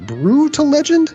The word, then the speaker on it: Brütal Legend: the one i could remember so it's actually pronounced brutal legend it's actually pronounced pretty much how do you